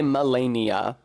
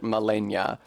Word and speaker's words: Malenia: They do say Melania. They don't actually pronounce it Malenia, so it was maybe unreasonable of me to describe it as Slavic flavored.